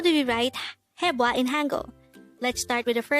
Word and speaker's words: 해봐: this is pronounced as a two-syllable word the first syllable is hey second syllable is pronounce it with me the word hepa is used to say